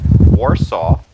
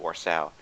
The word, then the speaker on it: Warsow: all in this case Warsaw uh or so AR or South thank you actually that's the way I should pronounce it or so and there's no no